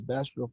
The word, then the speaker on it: Bastrop: Does Bastrop feel more or less racist in the last 24 years? Tell me how to pronounce that.